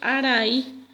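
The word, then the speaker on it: arai: En guaraní, nube decimos araí.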